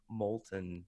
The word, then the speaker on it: Moulton: Business of Authority, with your co-host there, Rochelle Moulton, right? Did I pronounce her last name right? Yep, Rochelle Moulton, yep.